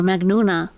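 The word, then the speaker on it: مجنونة: So, uh, in, uh, in Egyptian Arabic, we pronounce the J with a G sound. So, Magnon or Magnuna means crazy and that's how I know it crazy.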